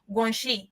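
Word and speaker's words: guanxi: In their language they pronounce it as gui.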